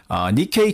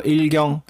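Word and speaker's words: 日経: 그거를 니케이 225라고 하는데 일경을 일본어로 읽으면 저게 니케이라고 읽힌대요. 그래서 일경, 니케이.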